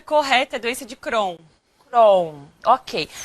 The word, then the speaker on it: Crohn: é um prazer imenso tá aqui o a pronúncia correta Doença de Crohn Ok é uma doença que ela envolve todo